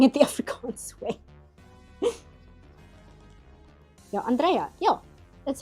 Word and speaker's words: Andrea: I go by the accent on the first syllable.